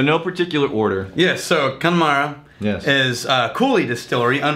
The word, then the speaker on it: Connemara: okay first things first we're gonna go for connemara yep pronunciation how do you say Terry I'll go Connemara connemara spend almost as possible kind of yeah